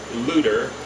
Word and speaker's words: Luther: Mansfield where the father Hans looter as his name was then pronounced locally went to work in